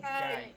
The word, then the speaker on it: ไก่: ไก่ ไข่ Nah, ayam itu Gai. gai ya, ไก่ gai. ออกเสียงเหมือนกันไก่กับไข่ Ayam itu gai, tapi kalau telur itu jadi kayak ada haknya kai.